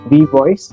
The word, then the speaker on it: WeVOIS: So anybody who is listening this conversation, Abhishek is the founder of V Voice. Is that how you pronounce it?